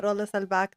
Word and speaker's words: Rolla Selbak: Well, welcome Rolles back to Wellrooted. Did I pronounce it correctly?